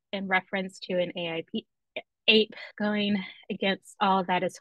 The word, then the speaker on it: AIP: How do folks pronounce AIP as ape or as IP to rhyme with sip and dip? And the answers are ape, ape, ape, ape, ape, smiley face.